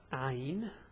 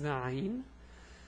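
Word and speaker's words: عين: So this is Ayn. The pronunciation is A, U, Ay. This is fast, let's go slow. A, U, Ay.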